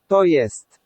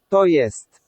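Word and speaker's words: to jest: of there is that the J sound in Polish is always said like J in yacht in English. So it's that Y sound. The rest we know. We've got the O like in orbit and we've got the E like in elephant.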